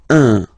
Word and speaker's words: un: without any doubt, but you've got to pronounce it like un. So it's what we call the nasal, so it goes in your nose, okay? Un. So if you listen to me, you don't hear any N, okay?